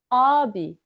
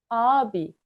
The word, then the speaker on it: ağabey: If the boy is older, then the boy is abi. Abi. We write it as ağabey, but we always read abi.